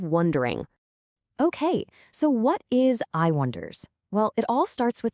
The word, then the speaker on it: iWondAIr: It's just I wonder. Simple as that. The name is pronounced exactly like the phrase, but we let that ending kind of drift off air like a half-finish thought.